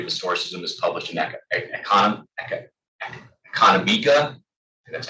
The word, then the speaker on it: Economica: The Poverty of Historicism is published in Economica. That's how you pronounce it.